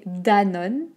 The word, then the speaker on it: Danone: pense ac ça ac sa axa ax après danone danone donc attention le or ici est très